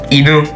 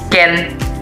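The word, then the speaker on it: 犬: Tapi cara bacanya berbeda dan memiliki dua cara, yaitu kunyominya adalah inu dan onyominya adalah ken.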